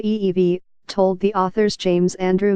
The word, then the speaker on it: Evey: he had in mind Mr FV pronounced ee-vie told the author's James